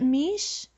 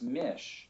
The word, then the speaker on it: Misch: I'm talking with, is it Misch? No, it's not. It's Mish.